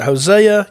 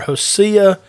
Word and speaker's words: Hosea: book of Hosea uh you may pronounce it Hosea you might hear hosia or even hosia and we'll talk about